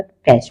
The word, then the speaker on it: catch: अब कैच में तो टी आ गया, लेकिन यहाँ पे टी जो है साइलेंट है, इसलिए क्या पढ़ा गया? कैच पढ़ा गया।